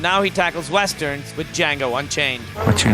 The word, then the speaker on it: Django: Quentin Tarantino's tackled a heist movie, he's tackled a kung fu movie, and now he tackles westerns with Django Unchained. What's your name? Django. The D is silent.